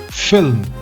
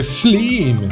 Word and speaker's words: film: So the first word is film. F-I-L-M. F-I-L-M. Film. Don't say fleam.